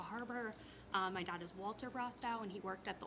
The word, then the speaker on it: Brostow: Hi, I am Brostow. Can you spell that last name for me?